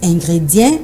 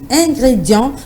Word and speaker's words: ingrédient: Ce mot est parfois mal prononcé par certaines personnes qui disent ingrédient au lieu de dire ingrédient. Ça s'écrit I-N-G-R-E-D-I-E-N-E, mais ça se lit ingrédient. Donc c'est le son en qui pose problème.